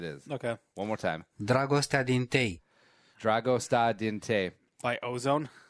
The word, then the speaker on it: Dragostea din tei: Hold on, there's pronunciation. Oh, wait. Have you ever done the play on Wikipedia? Dragostea din tei. I have no idea. No. Dragostea din tei.